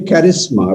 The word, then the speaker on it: charisma: Like we say charisma. We can simply say charisma, right? Charisma, ka sound is there in our languages, so why not use it?